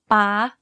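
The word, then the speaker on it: ป้า: To perfect the high tone, focus on the pitch of your voice. In this tone, your pitch needs to be high. Stressing your syllable when speaking is also ideal in this tone. For example, take the word ป ้ า or dad. You can hear that my pitch went high when saying this word.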